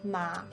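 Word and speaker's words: 马: tone ma means nam in the third tone ma means horse in the fourth tone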